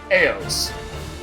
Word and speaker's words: AOS: organic organizational operation system it is pronounced EOS really EOS that's that's